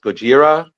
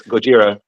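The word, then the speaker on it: ゴジラ: tattoo and me I'm like uh actually it's pronounced Gojira. I'm that guy like like Carrie would say like I'm like it's Gojira.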